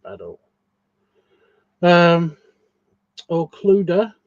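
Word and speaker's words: Clodagh: Um Oh, Clud Clud. Um, C l O D A G H.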